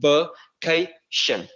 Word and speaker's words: vacation: Thì khi mà đọc cái đuôi shin này thì chúng ta sẽ phải chu miệng lên một chút, thì từ này sẽ đọc là vacation.